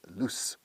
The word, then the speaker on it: loose: Y se pronuncia loose, con S pura, no S de zumbido, como lose, lose, lose.